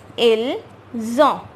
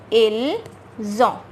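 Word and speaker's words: ils ont: IL is pronounced as ill, but we will take this S and this O, which will become zo, right?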